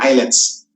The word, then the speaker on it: islets: of land your hands pronounce in the word eyelets Okay so hindi siya islets of ler hands ha eyelets of ler